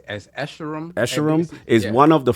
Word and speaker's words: Escharum: How you pronounce it? It's Escharum.